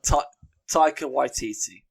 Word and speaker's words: Taika Waititi: Taika Waititi.